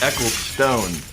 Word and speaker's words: Eccleston: It's pronounced Ecclestone. Ecclestone, yeah. Eccl. You've been pronouncing it wrong this whole time, Chris.